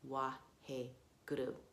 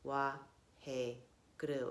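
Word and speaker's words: Waheguru: Your mantra is Wahe Guru. Wahe guru. You can use it, you can treat it as a 4-syllable thing, Wahe guru. But we're going to treat this as 3 syllables in this meditation.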